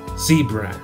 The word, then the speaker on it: zebra: Cebra se escribe igual en inglés y la pronunciación es zebra. Zebra. Tratando de hacer la pronunciación de la Z como un zumbido de una abeja, como se pronuncia la Z en inglés, puedes comenzar siendo un